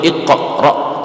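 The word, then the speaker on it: اقرأ: Cara bacanya sama, iqra atau iqra, tapi yang paling masyhur itu iqra, benar-benar diqalqalahkan.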